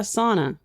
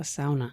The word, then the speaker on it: sauna: So, but not a sauna, a sauna. No, sauna. Sauna. Yeah, as a true Finn would say, the one word that everybody knows, they all mispronounce.